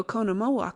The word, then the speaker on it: Oconomowoc: Easy enough when you have it. Accent on second syllable.